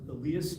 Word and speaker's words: Elias: It's pronounced Elias Wolford.